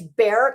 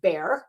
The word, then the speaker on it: Bexar: Her It's Bear County, but it looks like Bexar. It's like b e x a r, but they pronounce it Bear County, um which encompasses San